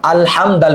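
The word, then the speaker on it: الحمد: বিসমিল্লাহি, হামজা লাম জবর আল হামিম জবর হাম, আল হাম দাল পেশ দু, আল হামদু লাম লাম লিল লাম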